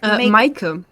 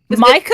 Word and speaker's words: Micah: Make Micah. Micah? It's like Michael, but without an L at the end.